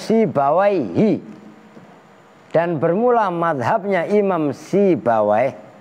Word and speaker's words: Sibawayhi: Nah itu kalian bacanya harus Sibawayhi.